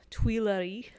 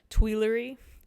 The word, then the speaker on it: Tuileries: garden in Paris France now I've been using the French pronunciation as best I can twee Larry but I'm going to go ahead and apologize now for using a more American pronunciation twee Lurie that French our sound is really difficult for me and I'm going to